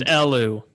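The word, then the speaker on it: Elw: They're But- pronounced Elu.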